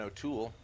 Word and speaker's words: O'Toole: now we've got erin o'toole emphasis on the last syllable conservative leader in canada